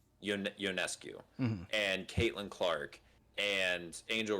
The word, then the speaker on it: Ionescu: Ionescu. Ionescu, and Caitlin Clark, and Angel Reese, and all